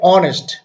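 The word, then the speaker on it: honest: যেমন আমি তোমাকে দেখাচ্ছি এখানে এস এর উচ্চারণটা এখানে অনেস্ট, অ এর মতো হওয়াতে আমরা এখানে তার পূর্বে কি ব্যবহার করতে হয়েছে?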